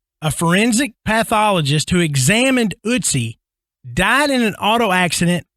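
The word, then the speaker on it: Ötzi: So Adam actually helped me when we started, helped me pronounce this first one correctly. So this is the curse. You're welcome. The curse of Utsi.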